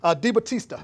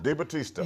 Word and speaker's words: DiBattista: Debo is what How we you call pronounce him. that again? DiBattista. DiBattista.